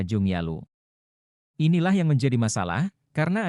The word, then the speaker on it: Junggaluh: ejaan China yaitu sugalo kata sugalu menurut mereka harus dibaca Jung yalo inilah yang menjadi masalah